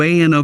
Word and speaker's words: ANO: Welcome to ANO Camera, pronounced Ano.